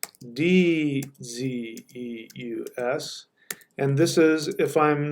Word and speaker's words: Zeus: about this before Zeus whoops Zeus is actually pronounced d ze us and this is if I'm not mistaken this